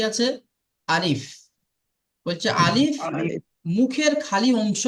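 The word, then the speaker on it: ألف: ভিতরে যে হাওয়াটা থাকে সে হাওয়াটা বার করলে আলিফ উচ্চারিত হয়ে যাবে আলিফ আলিফ আলিফ আলিফ জি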